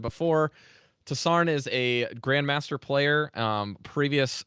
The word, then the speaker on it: TossarN: And yeah, go it's ahead. pronounced TossarN. TossarN. Yeah. Okay, cool. I didn't know with the capital N if I should pronounce it like at the same or like different, but yeah.